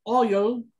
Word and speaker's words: oil: Se parecen, pero hay una, fíjense cómo es esta. Oil, Boyle. Y después el otro, lo último dos es Toy, Boy. Hay una diferencia, o sea, este es oil, es como que un poquito más largo y este es más seco. Toy. Así termina más corto.